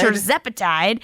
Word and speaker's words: tirzepatide: Tirzepatide. That's how I think it's pronounced.